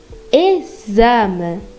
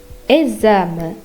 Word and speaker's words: exame: When X is after the first letter of a phrase, mostly E, it's pronounced as Z. For example, exame, exame.